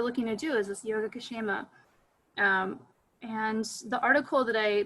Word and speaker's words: Yogakshema: It's from the Vedas, and the word is Yogakshema. It's all one word, Yogakshema. So it's spelled like yoga and then K-S-H-E-M-A, Yogakshema.